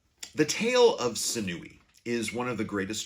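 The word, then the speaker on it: Sinuhe: Some people say Sinui, some people say Sinuha. For our purposes, I'm just going to call him Senui.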